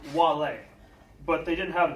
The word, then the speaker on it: vale: It's said a bit differently, though, with a soft V. A soft V? They didn't have W as part of the lexicon, so it's pronounced like a W, Wale.